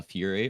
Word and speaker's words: Fiuyr: my name correctly first try uhhuh so it's pronounced uh Fury or you could just call me like